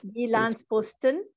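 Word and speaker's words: Jyllands-Posten: I'm sorry, I'm not going to pronounce that properly. Jyllandsposten.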